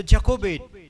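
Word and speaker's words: Jochebed: Kobe य को बेद और उसका अंग्रेजी में स्पेलिंग बनता है जे ओ सी एच ई बी ई डी तो जको बेट यह नाम उसका बनता है और फिरौन ने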